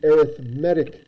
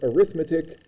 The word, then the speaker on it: arithmetic: geometric sequence with the arithmetic sequence. So even though I know you're going to pronounce this as arithmetic, I'm going to say it the way it's supposed to, arithmetic sequence.